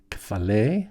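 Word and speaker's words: κεφαλή: Maybe you've heard of like cephalopod, because that in Latin the kappa softens, and they say cephalopod, a cephalopod, but kefale means head.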